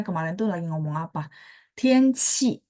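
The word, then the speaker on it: 天气: Tianqi, bacanya qi. Kalau yang kamu tulis JI, misalnya nada 4 ya contoh ya. Ji, itu bersih.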